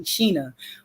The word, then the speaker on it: Shana: The only thing you mispronounced, and it's not your fault, it's the way my mother spelled it, is my first name. It's actually Sheena.